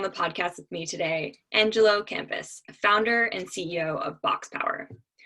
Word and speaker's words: Angelo Campus: Let me make sure I'm pronouncing your name correctly. Mhm. Angelo Campus? Yep, just like Oh, a school. okay, great. So, again, it's a pleasure to have on the podcast with me today Angelo Campus, founder and CEO of BoxPower.